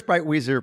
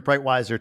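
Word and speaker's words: Breitwieser: my mind exactly um where's bright Weezer brightwiser today yeah and again either one either either pronunciation is fine um you know we're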